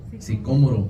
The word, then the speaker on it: sicómoro: Y corriendo delante subió a un árbol sicómoro, así se pronuncia, sicómoro, gracias, para verle, porque había de pasar por allí.